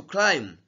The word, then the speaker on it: climb: here we have to climb this B is not pronounced it is to crime